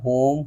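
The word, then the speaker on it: whom: उसके अलावा भी कुछ मिसालें हैं जैसे कि देख सकते हैं हु, होम, हुज, होल, answer, सोड, इन सब में भी डब्ल्यू है लेकिन डब्ल्यू को नहीं पढ़ रहे हैं।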